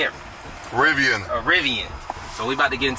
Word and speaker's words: Rivian: Rivian.